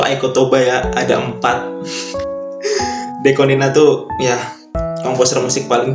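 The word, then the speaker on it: DECO*27: Sama biasanya aku dengerin Aiko Toba lagi dari Deko ini 27 itu bacanya Nina ya guys ya. Deko 27 itu bacanya Nina itu Aiko Toba 1 sampai sekarang itu Aiko Toba ya ada empat Dekonina tuh ya komposer musik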